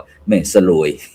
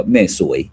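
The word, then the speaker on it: แม่สรวย: อำเภอ แม่ สวย นะ หลาย ท่าน หลาย คน อาจ จะ บอก ว่า แม่ สลวย แต่ เพิ่น กำหนด อ่าน ว่า แม่ สวย เออ สวย นะ จังหวัด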